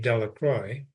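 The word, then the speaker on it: Delacroix: Jones and Dicky delacroy the villagers pronounced his name delacroy eventually made a great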